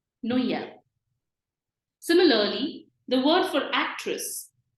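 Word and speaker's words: Noël: this word it's called No yell we have two different vowels in this o and E coming together and we are pronouncing both the vowels no e l no yell Christmas so trema in that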